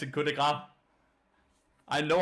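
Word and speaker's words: coup de grâce: Cut the grass in coup de grace.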